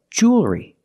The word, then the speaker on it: jewelry: together Jewel re and what about the L does it change no it doesn't change it's still a dark L because you have the L before a consonant the L is not